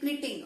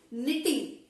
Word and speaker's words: knitting: So weaving, see here K is silent, you should not say knitting. Okay, it is knitting. Okay, K is silent.